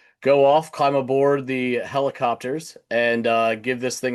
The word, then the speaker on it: Hellacopters: It is a band called Helicopters but it is spelled like the slang. I don't know if you guys say it over there, but it's definitely an American thing where we say hella. It just means a lot.